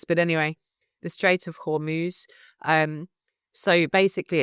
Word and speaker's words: Hormuz: going through the Strait of I think it's pronounced Hormuz. I'm not sure of the pronunciation. I should have listened to that before I did this, but anyway, the Strait of Hormuz.